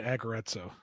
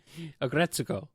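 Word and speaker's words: Aggretsuko: He's really into Aggretto. He just really loves that slice of life and the screamo metal segments. It's very cathartic. Okay, that is the one I'm thinking of. Agretsuko.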